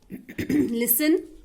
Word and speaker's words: listen: G is not pronounced in this word. Island, S. Fridge, G. Shipwreck, W. World, R. Listen, T.